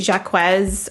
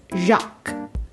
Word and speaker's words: Jacques: villager so it looks like it could be jacquez or jack it does have an english equivalent in french which um is it is the french version of jack i believe but it is pronounced jacques and you want to